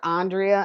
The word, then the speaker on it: Andrea: um i just have to say it is pronounced andrea i know it's spelled like andrea but um